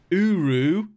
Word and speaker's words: Uru: Earthbender Mortal, Chaku Chalua, Earthbender Mortal, Kusalu, Earthbender Mortal, Uru.